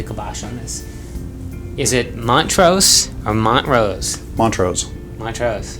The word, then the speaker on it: Montrose: can put the kibosh on this is it Montrose or Montrose Montrose my chest you use actually pronounce the T Mont Rose so those people